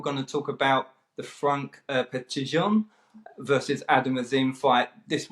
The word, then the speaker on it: Franck Petitjean: I think you've got to put a French accent on it just to make it sound a bit more French.